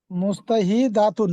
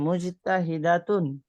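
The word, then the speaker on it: مجتهدة: জি মুস্তাহিদাতুন নাকি? জি মুজতাহিদাতুন, জি মুয়ান্নাস হবে মুজতাহিদাতুন, ফাতেমাতু তিলমিজাতুন মুজতাহিদাতুন।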